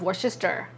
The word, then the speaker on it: Worcestershire: Worcestershire. No, it's Worcester. Worcester. Worcestershire. There's no shire in the end.